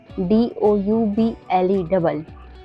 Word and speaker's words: double: जैसे YOUNG young, young में ओ के बाद यू आया हुआ है, इसलिए यहाँ पे ओ साइलेंट है। ऐसे ही और शब्द हैं जैसे TROUBLE ट्रबल, COUSIN cousin, DOUBLE डबल, डबल में भी ओ के बाद यू आया हुआ है।